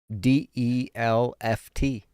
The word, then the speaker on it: Delft: If you're ever How do you there, spell that? DELFT.